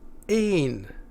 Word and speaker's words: één: Or it can also have the meaning of one, to stress that we are talking about a quantity. Then it is pronounced as één.